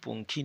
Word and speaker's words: পঙ্খী: তাহলে ওই ভাসে ময়ূর পঙ্খী নাও। উময় দীর্ঘী উময় দীর্ঘ পঙ্খী পঙ্খী। উমর উচ্চারণ অং এর মত।